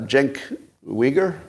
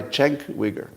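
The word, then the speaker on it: Cenk Uygur: I'm just reading text is it Jen Jen weager right that's the correct pronunciation or Chen CH Chen try Chen wigger all right I do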